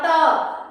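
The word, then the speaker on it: talk: Silent था ए एल उसी तरह टॉक में क्या साइलेंट होगा एल एल टा बोलना है ना टा बोलना है तो एल तो है इस वाले शब्द में एल है लेकिन हम एल एल को प्रोनंसिएशन नहीं कर रहे हैं। एल को हम बोल नहीं रहे हैं। इसलिए टाक में साइलेंट है एल एल और इसको क्या पढ़ेंगे?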